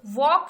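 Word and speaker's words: walk: अब इसमें आपको वॉक, वॉक सुनाई दे रहा है, एल का आपको कहीं इस्तेमाल नहीं दिखाई दे रहा, तो यहाँ पे हम अंडरलाइन कर देंगे एल को, जो एल शब्द है वो यहाँ पे साइलेंट है, ठीक है।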